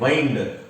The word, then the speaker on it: wind: और इसको हम लोग पढ़ते हैं वाइंड। वाइंड एक वर्ब है, वाइंड एक वर्ब है जिसका मतलब होता है चाबी देना, ऐंठना, राइट? और विंड एक नाउन है जिसका मतलब होता है हवा। तो स्पेलिंग तो सेम है लेकिन मीनिंग और प्रोनाउंसिएशन दोनों अलग अलग है।